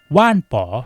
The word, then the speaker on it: Wanbo: วัน นี้ พบ กับ ว่าน ป๋อ หรือ จะ อ่าน ว่า One Bow ก็ ได้ นะ ครับ ตาม สะดวก ว่าน ป๋อ T2 Max